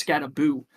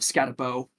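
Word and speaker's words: Skattebo: And I've just recently learned that I've been saying his name, his last name wrong because apparently it's Scataboo. Um not Scatterabau. I think Scatabo sounds a little better. Um but I think Buu is the official way to say it. um Cam Scataboo, the star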